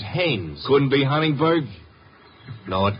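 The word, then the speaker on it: Haines: used to fish out no no no not Hines hannes couldn't be Huntingburg no it couldn't be the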